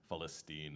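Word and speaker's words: فلسطين: And uh just a note on the lyrics, Falstine is how you say Palestine in Arabic.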